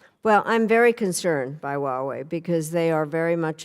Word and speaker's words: Huawei: I believe it's pronounced Huawei. Huawei.